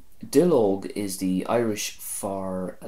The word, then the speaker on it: duilleog: Our next word is Dill Oak. Dill Oak is the Irish for a leaf, and this again comes from 2 words fusing together.